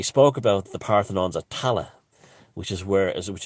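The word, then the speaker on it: Tallaght: in ireland and they were all buried in tala and which was mispronounced by the earth the the americans as talact because it's spelled t a t-a-l-l-h-h-t and irish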